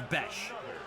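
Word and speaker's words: Bech: So I saw 2 different posts. One of them says Jack Beck. One of them says Jack Besh. I think it's Jack Besh.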